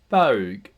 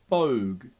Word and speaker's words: baug: For Joseph Wright, he would interpret this as owl, owl. For Lionel Armitage, he would interpret this as all, all.